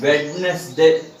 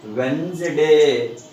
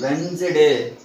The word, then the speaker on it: Wednesday: So that's why we should not pronounce it as Wednesday. Because in this word the letter D is silent. So that's why the correct pronunciation of this word is Wednesday. See, Wednesday.